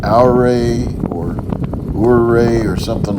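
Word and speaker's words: Ouray: I think it's either called Aur or Uray or something like that coming up. Do you know how to pronounce the name of that town? I think it's pronounced Uray, Colorado.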